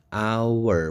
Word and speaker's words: hour: Jam meskipun tulisannya H tapi kan hour bacanya, hour berarti pakai an hour.